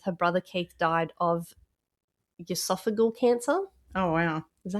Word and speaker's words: esophageal: On July 17th, her brother Keith died of esophageal cancer. Oh, wow. Is that how you say it? Esophageal?